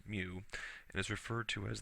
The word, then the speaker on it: mu: other factor is this mu value here which is a Greek symbol that's how it's pronounced as mu and is referred to